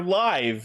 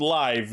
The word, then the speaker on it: Live: Speaking of more writers, next week will be the debut of Kamen Rider Live, and it apparently is pronounced live, not live.